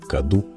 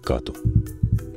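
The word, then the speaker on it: կատու: И до сих пор на западном диалекте армянского оно произносится как «каду», а в восточном – как «кату».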